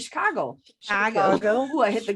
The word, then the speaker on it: Chicago: Yeah. That's how you say it. Chicago.